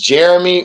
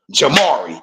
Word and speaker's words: Jamari: I I want to say is is is Jeremy or is that's not how you say it though.